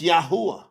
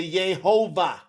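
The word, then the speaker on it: יהוה: Now that's Yahwh. But when they put them vow points on that word, they change that to Yhovah. So the yah becomes yay with the vowel points.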